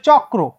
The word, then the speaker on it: চক্র: ত দুইটা ত হ্যাঁ আমরা যদি বলি চক্র তাহলে উচ্চারণটা কিরকম চক দুইটা ক তারপর র চক্র ঠিক আছে বা চক্র তো একইভাবে